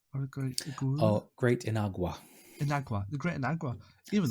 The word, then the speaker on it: Inagua: Even the Great I always pronounce the name wrong. Great Iguana? Or Great Iguana? Oh, Great Inagua.